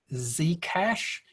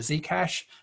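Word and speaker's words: Zcash: 15 second block period z cash um so it's pronounced with an american z so z the z cash um it does anonymous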